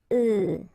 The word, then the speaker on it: œufs: if you listen carefully, the pronunciation is changing quite much, because for the singular form it's œuf, but then for the plural form here it's œufs, okay?